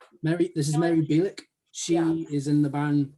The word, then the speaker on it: Bielich: do you say last name last name is bielik mary this is mary bilick she is in the band de kedah decatur